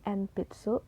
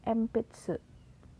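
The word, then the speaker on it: 鉛筆: p b dan m nah ketika huruf N diikuti dengan huruf p B dan M maka huruf N tersebut dibaca dengan huruf M seperti contoh pensil dengan bahasa Jepangnya npitsu dibacanya empitsu Oke gitu ya teman-teman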